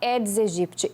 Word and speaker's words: Aedes aegypti: tal do aedes aegypti se escreve aedes aegypti mas se fala edes egipt ele é muito perigoso